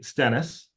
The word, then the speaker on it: Stennes: again my name is stennis to pronounce correctly uh I had a